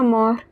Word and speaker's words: mort: La mort, T at the end is silent.